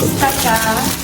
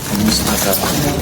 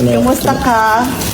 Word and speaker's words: Kumusta ka: So tell them how to say it properly cuz if anytime you say Tagalog here they love Kusta ka? Kumusta ka? Sorry. Anousta? Kumusta ka?